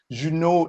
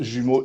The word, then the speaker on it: Jumeaux: responsable de la compagnie juneau immigration jumeaux pardon j'ai eu un mot s mais ça se prononce jumeaux immigration canada et alors